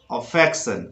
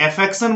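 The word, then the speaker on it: affection: अफेक्शन कुछ लोग एफेक्शन बोलते हैं जो गलत है, यहां आपको बोलना है अफेक्शन।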